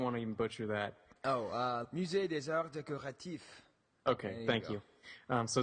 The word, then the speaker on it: Musée des Arts Décoratifs: Musée des Arts Décoratifs.